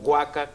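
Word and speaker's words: huaca: haka con h pero cuando pronunciamos pronunciamos guaca con g verdad es lo que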